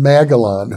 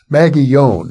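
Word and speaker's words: Magallón: And so I suggested because I'd done an interview years and years ago with a lady named Linda Lane Magalon who wrote a book, Maggieon actually is the pronunciation.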